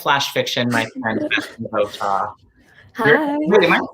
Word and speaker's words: Votaw: I am with the queen of flash fiction, my friend, BETHANY VOTAW. Hi. Wait, am I saying that right, by the way? VOTAW?